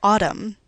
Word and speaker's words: autumn: What about the word autumn? Say it with me. Autumn. Do you produce an N sound at the end of that word or do you just